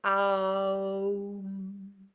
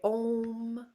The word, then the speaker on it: Om: It's pronounced Aum. Some people just say Om. Some people go more with the Ah. It's as you wish, really.